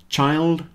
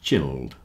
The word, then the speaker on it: child: So child, not chilled.